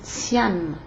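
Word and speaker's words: Tiane: Si elle est de marque Tian, comme ça s'entend, comme ça se prononce là, T-I-A-N-E, téléviseur à grosse tête,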